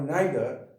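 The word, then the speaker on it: neither: तो जी हाँ, तो यहाँ पे आइदर और नाइदर ब्रिटिश इंग्लिश है, जबकि इसका अमेरिकन प्रोनाउंसिएशन ईदर और नीदर होता है।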